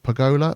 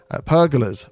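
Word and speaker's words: pergola: the eye can see pagola Pagoda I pronounced that wrong haven't I pagola no it is pagola I got it right the first time cuz these are the pagodas over there aren't they these ones here pagas pergas pergas I knew it didn't sound right I think that's probably how you're pronouncing it yes thank you very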